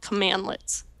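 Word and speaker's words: cmdlet: something those are called command lets when you see that written out it's spelled CMD but it's pronounced commandlet H okay and so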